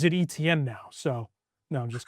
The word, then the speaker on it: Etienne: it's Travis Etienne now. That's how they like pronounce it and Jordan Tyson.